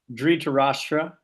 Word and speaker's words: Dhritarashtra: Dhritarashtra.